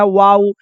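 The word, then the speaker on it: wow: जैसे इसको हम लोग कहते हैं नाउ, इसको कहते हैं वाउ, इसको कहते हैं हाउ, इसको कहते हैं अलाउ।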